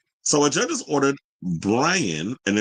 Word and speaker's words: Braian: So a judge has ordered Brian, and it's spelled Braian, Brian Nahuel Paez, remand in prison after charging him with supplying the singer with drugs a week ago.